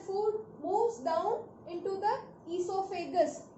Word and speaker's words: oesophagus: Then the partially slightly digested food moves down into the esophagus. Here please note the spelling. O is silent.